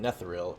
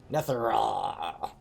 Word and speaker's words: Netheril: i'll be impressed okay here i've been pronouncing it netheril it's actually pronounced netherra i didn't have enough evil in my throat when i was oh god that [